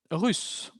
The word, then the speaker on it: russes: Il est russe, ils sont russes. Una S más, pero de nuevo la S es muda. Misma pronunciación. Ils sont russes.